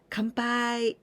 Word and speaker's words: Kanpai: by come by in the pronunciation is Khan this is and after Pi not come with em come by but Kampai just adding shimas then